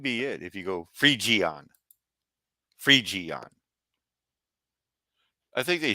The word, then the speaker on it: Phrygian: G and G, Phrygian, Phrygian, G like in fridge, Phrygian, Phrygian.